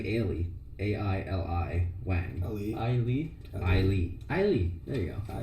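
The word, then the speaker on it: Aili: Ailey. There you go. I Ailey.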